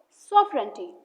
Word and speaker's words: sovereignty: Remember, the G is completely silent, so we pronounce it as sovereignty.